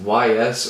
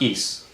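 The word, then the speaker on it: Ys: got recommended the album is it just yes or is it it's pronounced ease okay i got the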